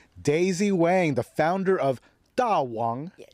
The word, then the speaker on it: DAWANG: But um why Dawang? And I'm pronouncing it the Chinese way and and I'm pronouncing in a very theatrical way because Tawang literally means great king.